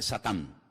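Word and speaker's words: שטן: En hebreo no se dice Satanás, se dice Satán, que significa adversario.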